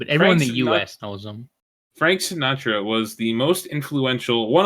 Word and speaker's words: Sinatra: that is pronounce it right pronounce it right right now Sinatra there you go what's his first name Frank